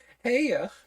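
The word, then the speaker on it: Haigha: his name is heiger heya he pronounced it so as to rhyme with mayor here I love my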